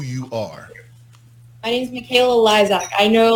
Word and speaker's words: Lysiak: my name's Makayla Lysiak. I know like my last name is really hard to pronounce because it's Polish, Yeah. but yeah, Lysiak.